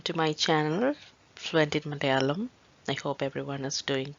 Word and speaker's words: Malayalam: the first word is malayalam malayalam the language that we are learning here in this channel and it is it should be pronounced in the same way it is written so if you treat